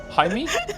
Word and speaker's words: Jaime: Jaime is pronounced in like the hide in Hideyoshi, but with an M. Jaime?